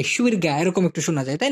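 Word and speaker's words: syurga: সুরগা, সুরগা, বেহেস্ত। কিন্তু ওরা লেখার সময় এইভাবে লেখে, এস ওয়াই ইউ আর জি এ, সুরগা, এরকম একটু শোনা যায়, তাই না? কিন্তু উচ্চারণ বেলায় কিন্তু সুরগা হবে, সুরগা, বেহেস্ত।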